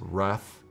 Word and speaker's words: Raf: war video I'm sorry I kept saying ray I even wrote ray grazetti it's Wrath grazetti I apologize for that